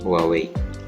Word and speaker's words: Huawei: Bacanya gimana sih? Huawei.